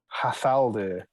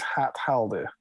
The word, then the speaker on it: Hat Haldir: But his name is Hat Haldir, which I presume at the time would have been pronounced Hathaldir.